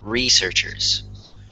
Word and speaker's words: researchers: It's the stressed syllable in this word, researchers. So the stressed syllable is in the first syllable, so it's researchers.